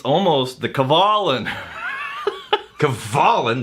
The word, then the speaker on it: Kavalan: Kavalan, the correct pronunciation of the Taiwanese distillery. Not Kavalan.